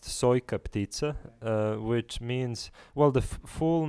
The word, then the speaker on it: Sojka ptica: So the piece is pronounced Sojka ptica, which means, well, the full name of the